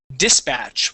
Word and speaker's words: dispatch: First off, instead of pronouncing the word dispatch with the accent at the end, this word is dispatch with the accent at the very beginning.